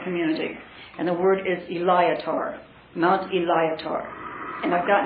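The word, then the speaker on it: Illiak'ar: our ancient Remnant language and that's what yes Ilia car Ilia car and could you spell it please if you wish it can translate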